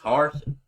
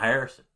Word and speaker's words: Harsin: It's Harsin. It's not Harrison.